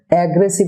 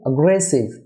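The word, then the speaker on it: aggressive: Dear viewer, অ্যাগ্রেসিভ না হয়ে হবে অ্যাগ্রেসিভ, অ্যাগ্রেসিভ, অর্থাৎ এর উচ্চারণ হবে আ, অ্যাগ্রেসিভ।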